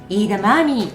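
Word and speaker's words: edamame: 方は枝豆ではなくイーダマーミーと読みます。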